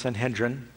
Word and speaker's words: Sanhedrin: Now, there was one time, typically, when the Sanhedrin, sometimes I've heard it pronounced Sanhedrin, when they want to try somebody, they could try a person.